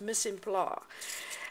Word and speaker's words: mise en place: restaurant, and there's something called, I believe it's pronounced mise en place, and it's basically getting all your stuff in